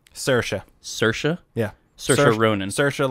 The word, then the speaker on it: Saoirse: Saoirse like inertia. Oh, okay. Oh, you're talking about the actual actress's name? Yes, yeah, because I can Saoirse never...